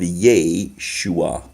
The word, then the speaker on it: Yeshua: it like this because then you get the syllable of yeh shua was Jehovah is a Shiva and Shiva makes